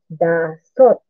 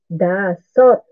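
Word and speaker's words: 다섯: So, para magmadali i-pronounce ang dasot. Dasot. So, D-A-S-E-O-T yan ang pagkasulat para medyo madaling ma-pronounce siya.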